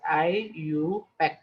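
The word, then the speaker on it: IUPAC: pure and applied chemistry abbreviated as io pack pronounced as i you pack system constantly review the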